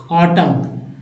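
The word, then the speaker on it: autumn: पढ़ेंगे जैसे देखिए ए यहां एन साइलेंट हो जाता है ऑटम ऑटम पढ़ेंगे एकदम सीधा पढ़ना है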